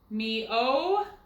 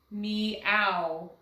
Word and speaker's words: meow: Me-o. Do you think that's right? Like in bow? No. So let's try it as a diphthong. Meow. Meow. That is correct.